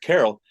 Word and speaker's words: Carol: Cracker Barrel uh name named Carol rhymes with Barrel anyway then instead of right there on our apron and and this dude is he's so smitten with her he's so enamored with Carol that he shows up